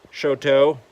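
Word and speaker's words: Choteau: So we started out today here in Shoto. Looks very much like the French word chateau.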